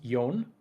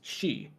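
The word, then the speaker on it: 四: things so there's actually two different ways that you can pronounce the number for four one is yon and that one's pretty neutral I don't think people get fussed about that one the other is she and that is a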